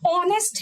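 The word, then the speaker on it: honest: ऑनेस्ट है, इसको हिंदी में बनाओ ऑनेस्ट, आ लगता है इसीलिए तो ऑनेस्ट से पहले एन लगाते हैं, क्योंकि आ की साउंड दे रहा है और अ से लेके आने खली तक एन लगता है, तो एन ऑनेस्ट।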